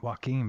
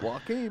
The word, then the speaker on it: Joaquin: Oh, Mike, you said it right. Joaquin, baby. I guess it's one of them names everybody screws up. It's Joaquin, baby.